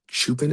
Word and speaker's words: Chupin: Today will be 169 with, I believe, Chupin is how he pronounces his last name.